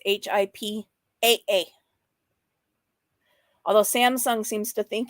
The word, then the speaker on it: HIPAA: I'm not going to spend too much time looking for it, but hey, if you're going to say it, Sam, say it right. It's HIPAA.